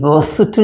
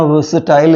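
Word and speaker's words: versatile: Lavi E आर एस टी आई एल ई वर्सेटल या वर्सटाइल इसको हम pronounce करते हैं तो अगला हो जाएगा वच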